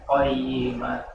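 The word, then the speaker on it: قيمة: Kalau lidah yang ujungnya depannya, bagian ujung lidah bagian depan dia turun. Karena kok sendiri itu kayak di sini adalah huruf yang termasuk huruf yang lidah bagian belakang. Jadi naik aja pangkal lidahnya.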